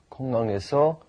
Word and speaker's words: 공항: 공항에서 what is the word for 지갑. 지갑? 지갑을 잃어버린 적이 있어. Right. And be careful with 공항 too. The pronunciation is 공항.